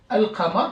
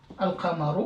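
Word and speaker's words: القمر: Maintenant, si j'ai une lettre lunaire, par exemple, Al-Qaf, Al-Qamar, regardez, Al-Qamar, la lune, Al-Qamaru, vous voyez, le lam, il est prononcé entièrement. Pourquoi? Parce que juste après, il y a une lettre qui est lunaire.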